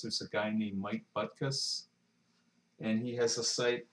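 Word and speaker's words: Butkus: org and it's spelled uh Buu t k s kind of like dick buckus the the famous Chicago uh Bears football player but anyway um I've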